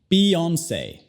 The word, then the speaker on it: Beyoncé: Entonces, primero B y E se dicen como la palabra be en inglés. Be, be. Y luego tenemos once, once. Beyoncé.